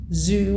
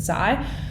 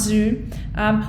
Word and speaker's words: Zioux: restaurants to hit the food scene being zoo pronounced zoo although the spelling is z-i-o-u-x i know it literally took me to watch the promo before i realized that the pronunciation was zoo i was going around pronouncing it zai nope